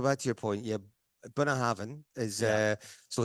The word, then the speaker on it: Bunnahabhain: latterly, the guys at the distillery have been pronouncing it Bunnahabhain.